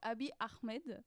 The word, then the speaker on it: Abiy Ahmed: Et avec la bonne prononciation? Abiy Ahmed. Pas mal. Tu es presque. Donc Abiy Ahmed.